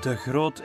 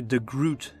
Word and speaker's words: De Groot: of witch hunter and yes deot is how you pronounce my last name in Flemish but I guess you would say the Groot in English if this is the